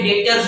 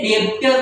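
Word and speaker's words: debtor: चिकू और मिकू उसके डेटर्स हुए ये डेबिटर नहीं बोलगा बी साइलेंट है बी साइलेंट है डेबिटर नहीं बोलगा स्पेलिंग देख डी बी टी आर एस डेटर बोलने का डेटर ये तीन उसके डेटर्स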